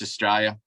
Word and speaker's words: Australia: you think of it spell s-t-r-a-y l-i-a-a-l-i-australia that's how we say over here no one pronounces the I you it's Australia have you ever hanging